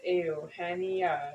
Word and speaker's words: Eugenia: So now I'm saying it's if you spell it out, Eugene, and add IA at the end, Eugenia. And then say it in Spanish, it's Eugenia.